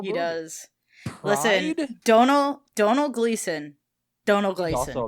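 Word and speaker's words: Domhnall: Donald Gleason.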